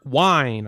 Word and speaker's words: Wine: and Sanders to Taylor wine I found out it's Wine Not Wing that's what I was pronouncing it wrong Taylor wine um there's